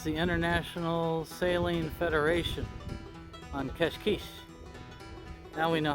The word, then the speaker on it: Cascais: nice this is the international sailing federation on cashquiche now we know how to say it